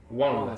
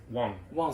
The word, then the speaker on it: 忘: Wang. Ça veut dire oublier. Wang. Et Wang avec un G. il ne faut pas prononcer que. En chinois, il n'y a pas de que. C'est pas Wang, Shanghai.